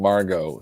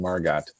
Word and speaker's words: Margot: I heard a meteorologist pronounce the T on Hurricane Margot, so Hurricane Margot.